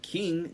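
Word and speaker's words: Qing: Uh China during this time was known as the King Dynasty spelled with a Q.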